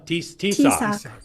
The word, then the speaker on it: Taoiseach: Paul, how do you pronounce that guy's name? Ambassador. Yeah, the guy from Ireland. Taoiseach. Huh? Taoiseach.